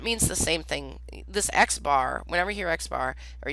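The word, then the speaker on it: x̄: If I say Xbar, see that X with a line above it? That's pronounced Xbar.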